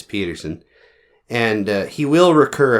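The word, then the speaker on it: Pedersen: Ted Peterson Peterson yeah it's spelled p d ER seen but I'm going to say it's Peterson and uh he will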